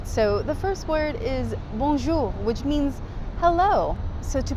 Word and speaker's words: Bonjour: kind of not because you're not technically pronouncing the end completely it's sort of like you're touching it but not like seeing it through so it's like boom